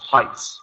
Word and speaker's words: Heights: like uh this doesn't really have you don't pronounce the uh e in Heights so it's just Heights okay no e sound also some most of